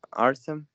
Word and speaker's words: Artem: for being late um it's pronounced like artem autumn autumn yeah it's like